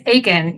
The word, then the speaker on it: Aitkin: it's it's aen right is the tea kind of Silent it's aen yep it is Akin Minnesota that the way to